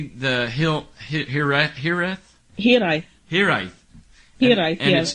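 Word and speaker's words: hiraeth: Hirith.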